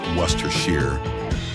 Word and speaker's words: Worcestershire: It's Worester Shear.